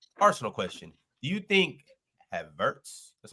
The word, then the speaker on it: Havertz: Do you think Havertz, that's how you say his name, Havertz, has been a good signing?